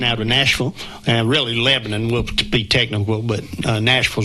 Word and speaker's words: Lebanon: Well, it's it's Lebanon. Thank you. Thank you very much. We can continue the show now. I've been around long enough to to know how to pronounce it. Thank you very much. You get corrected if you say Lebanon. No, that's in the Middle East. Lebanon is in Tennessee. It's like Shabbyville.